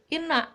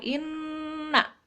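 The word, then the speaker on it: إنّا: Nah, itu kan ada tasydid tuh di nunnya. Nah, dibacanya harus ditekan, nggak boleh inna, nggak boleh, harus lama ditekan karena ada tasydid, ya. Misalkan di sini ayat pertama inna.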